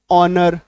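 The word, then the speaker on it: honour: आर आवर एच ओ एन ओ यू आर ऑनर उच्चारण देखिए इसका आवर उच्चारण देखिए एच के बाद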